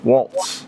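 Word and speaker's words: Walz: Waltz. No T, just Walls. Walls.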